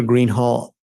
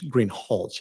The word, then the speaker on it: Greenhalgh: thank you your honor officer Greenhall I believe I'm mispronouncing your name it's green holch isn't it correct I apologize will